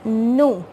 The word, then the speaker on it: nous: Our next subject is nous, which the meaning is we, and it will be pronounced as nous, and here our last letter S will not be pronounced, and the next, our conjugation is avant.